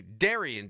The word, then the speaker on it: Darian: If it's spelled Darian, you can't say it's pronounced Darren.